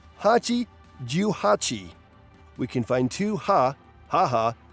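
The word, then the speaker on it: 八十八: Mother is Haha in Japanese, and 88 is pronounced Hachi Juhachi.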